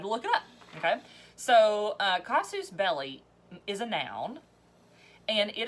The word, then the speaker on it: casus belli: kazoos cos suits its cost is not K casus belli casus belli and it is spelled CAS us space so it's actually two